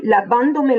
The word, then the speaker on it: lavándome: colle à la fin, l'accent tonique va se déplacer. Nous allons donc toujours trouver un accent à la troisième syllabe en partant de la fin. Exemple, estoy lavándome las manos.